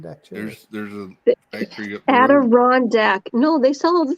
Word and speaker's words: Adirondack: design and then rebranded that as the adirondack chair with it just got interesting it did